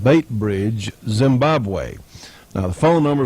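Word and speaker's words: Beitbridge: Post Office Box 49, and I suppose that's pronounced Baitbridge, Zimbabwe.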